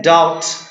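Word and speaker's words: doubt: Example जैसे देखेंगे आप, एग्जाम्पल में है डाउट। यहां पर देखेंगे आप कि बी के बाद क्या आया है? टी आया है, तो बी क्या रहेगा? साइलेंट। डाउट नहीं, क्या पढ़ेंगे इसे आप? डाउट।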